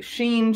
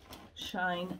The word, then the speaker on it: Shein: I just got some things from, you guys, I don't know how to pronounce it, okay. Shein, Shine, Shein, whatever.